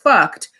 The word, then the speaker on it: Fuct: Do you think that this streetwear line spelled Fuct and pronounced fucked, do you think that they should be allowed to get a trademark?